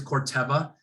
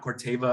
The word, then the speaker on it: Corteva: often mispronounced very often it is corteba uh not corteva or cortiva it is corteva uh it is has